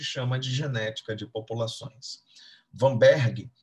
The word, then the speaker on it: Weinberg: de genética de populações vamberg é médico alemão e daí a pronúncia da letra w se como se fosse a letra V se liga nisso por